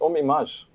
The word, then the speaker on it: Ohm Image: You have a nicer way of saying it. It's Ohm Image. Image, with a French touch.